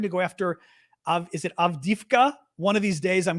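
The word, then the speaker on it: Авдіївка: Somebody's asking for the map, but again, it's Avdiivka. Avdiivka, but it's spelled Avdiivka.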